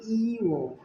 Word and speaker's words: ঞ: ইও দর্শক এ বর্ণটি অনেকে এভাবে ভুল উচ্চারণ করে থাকে। সঠিক উচ্চারণ হল ইও ই প্রথমে আমরা এইভাবে মাথাটা একটু গোল করবো।